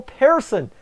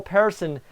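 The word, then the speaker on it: Persson: where'd he come from Sweden Joel Pearson I had to I had to sorry I had to rigmarole the other of it because I had to get my pronunciation and it's Joel person who gets to assist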